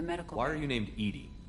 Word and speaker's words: EDI: located behind the medical why are you named edie edie is the phonetic pronunciation of edi that is an acronym for